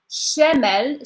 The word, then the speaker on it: شمال: So I'm going to pronounce them again. Shamal, Shamal, Shamal.